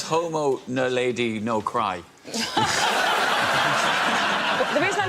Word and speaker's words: naledi: Nadali. Homo nadali. Yeah. Nadali. Excuse me, Homo naledi.